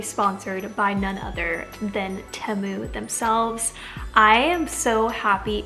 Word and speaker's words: Temu: But first, maybe some of you are wondering what Temu is, and that's actually how you pronounce it. It's like Tem and then Mu, but it's basically an online marketplace, and it's endless.